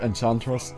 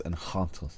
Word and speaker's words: Enchantress: enant by the way it's not enchantress that's that's not the right way to say that name it's enant I'm sorry that's just